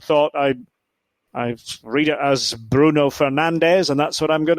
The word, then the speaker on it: Bruno Fernandes: And his name happens to be Bruno Fernandes. Bruno Fernandes. That's the Portuguese pronunciation of his name.